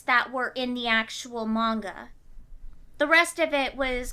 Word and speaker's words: manga: Monger! You mean manga? Monger! No, Joe was pronounced it manga, and it's actually pronounced right. manga. Okay, the other way around then.